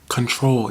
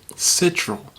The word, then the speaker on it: Ctrl: first album well the album prior to SOS control yeah that's how you pronounce it when everyone didn't know about Scissors because I was an original fan y'all weren't I used to pronounce it citro but then when I was helping some kid